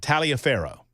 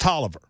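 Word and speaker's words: Taliaferro: r r o any normal human being would pronounce that Talia Pharaoh yeah that that was a County in Georgia but that's not how you pronounce it was pronounced Tolliver I'm not one more time I'm one more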